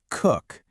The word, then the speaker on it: cook: Just a short, punchy, double o sound here. Say it with me. Cook.